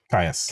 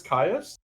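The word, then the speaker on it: Kyuss: Caius. That's how you pronounce it. I know it's Caius Mm-hmm.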